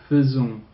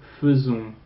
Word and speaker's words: faisons: Don't pronounce that A-I like you pronounce it elsewhere.